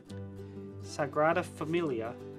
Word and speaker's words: Sagrada Familia: in Barcelona Sagrada how do you say it Sagrada Familia there we go yes it wrote that one